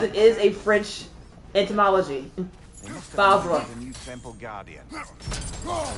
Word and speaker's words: Favre: It's spelled Favre, and yet, even though the R comes after the V, you are pronouncing the R before the V.